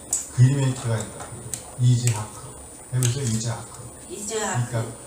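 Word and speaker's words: יצחק: 이즈하크. 그래서 이삭이라는 단어의 히브리어 발음은 이즈하크가 된 겁니다.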